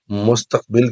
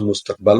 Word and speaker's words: مستقبل: کے پس منظر میں مستقبل کی فکر عطا کر۔ اصل میں لفظ مستقبل ہوتا ہے، لیکن چونکہ غلط العام مستقبل ہے تو ہم بھی وہی پڑھ دیتے ہیں۔ اصل تلفظ اس کا مستقبل ہے۔ میں بلبل نالہ ہوں